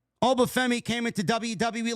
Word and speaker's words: Oba Femi: Just in case you didn't know how to pronounce his name, Oba Femi came into WWE like he owns the joint, which he doesn't.